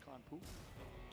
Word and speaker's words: Karanpu: I know it's spelled Karanpay, but it's actually pronounced Karanpu.